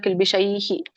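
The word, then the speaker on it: ಕಿಲ್ವಿಷೈಃ: ಪೂರ್ಣ ಹಾನು ಬರಲಿಲ್ಲ ಎಂಡಿಗೆ ಇದು ವಿಸರ್ಗ ಇದೆಯಲ್ಲ ಸರ್ವಕಿಲ್ವಿಷೈಹಿ ಹಾಗಾಗಿ ನಾ ಅದಕ್ಕೆ ಹೇಳಲ್ಲ ಸ್ವಲ್ಪ ಸ್ವಲ್ಪ ಹೇಳಿ ಅಂತ ಹೇಳೋದಿಲ್ಲ ಅದಕ್ಕೆ ಎಲ್ಲರೂ ಏನ್ ಮಾಡಿಬಿಡ್ತಾರೆ ಹಾಗೆ ಉಚ್ಚಾರಣೆ ಮಾಡಿಬಿಡ್ತಾರೆ ಸರ್ವ ಕಿಲ್ವಿಷೈಹಿ ಹ ವಿಸರ್ಗ ಇದೆ ಅಂತ ಗೊತ್ತಾಗಬೇಕು ತ್ವಗಂ ಪಾಪಹ ಪ ಇರೋದ್ರಿಂದ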